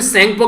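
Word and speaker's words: Tsangpo: तो इसको यारलंग ज़ेंगपो या फिर सेंगपो के नाम से भी जानते हैं। आप बोलेंगे सर टी कहां गया, टी यहां पर साइलेंट रहता है, तो इसको सेंगपो या फिर यारलंग ज़ेंगपो के नाम से जानते हैं।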